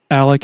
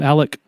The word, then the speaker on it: Alex: intertwined, and you invited Alec and is it okay? It's spelled Alex, but I guess we need to call him Alec.